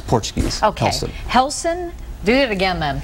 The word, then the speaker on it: Relson: will be Sunday at one o'clock at the relson Gracie Jiu Jitsu Academy Nelson did I say that right yes it's spelled r but it's pronounced with it it's Portuguese okay helson do it again then helson Gracie okay Jiu Jitsu Academy thank you on